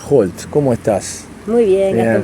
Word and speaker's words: Holt: Y Holt también, suena la H, aparece la J.